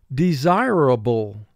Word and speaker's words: desirable: Four syllables. First syllable D, two sounds. D, E. Zi, two sounds. Z, I. Ray, two sounds. R, A. Bull, two sounds. B, ul.